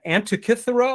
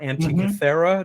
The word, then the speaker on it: Antikythera: The Antikythera or Antikythera device, depending on how you want to pronounce it, which is thought to